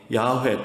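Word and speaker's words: 야훼: 좀 수정해서 부르는 것인데 그런데 이 발음이 라는 것은 후드에 만들어진 발음인 것이죠 그러니까 원래 어떻게 읽었는지 것은 우리가 아직은 정확하게 모르고 있습니다 근데 우리는 별로 답답하지도 궁금하지도 않으시죠 근데 학자들도 그런거 연구에서 먹고 사는 사람들이기 때문에 그게 그렇게 궁금해 가지고 그것에게 연구하게 된 것입니다 그래서 찾아낸 발음이 야외에 또 번 야외 라는 발음입니다 그 글자는 계속 같은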